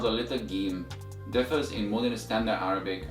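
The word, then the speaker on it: جيم: first letter of Arabic is pronounced it as game game and as always repeat after me again game and the sound of the little game comes from the middle of the tongue and is equivalent to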